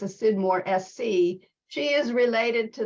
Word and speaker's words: Scidmore: question we have is related to how you pronounce her name it is it's not okay it's not Skidmore it's a sidmore SC she is related to the branch of